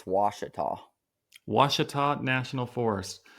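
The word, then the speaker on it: Ouachita: Lake Wachita, but then I found out from Oh, people that live there, it's Washita.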